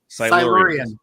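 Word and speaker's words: Silurians: Like, how do you pronounce it? Silurans. Silans.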